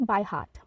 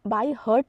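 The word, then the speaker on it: by heart: starts next one इज बाय हार्ट बाय हार्ट इसे हम बाय हर्ट नहीं अ pronounce करेंगे बाय हार्ट बाय हार्ट ईडीएम का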